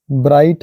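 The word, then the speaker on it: bright: लेकिन टी जुड़ गया है लाइट है जी साइलेंट टी पढ़ रहे हैं वैसे ही नाइट है फाइट है माइट है ब्राइट है कॉट है हट है टट पढ़ाया हुआ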